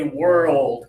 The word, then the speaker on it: world: So, we have to slow this down to two syllables like that, and say World Cup, okay?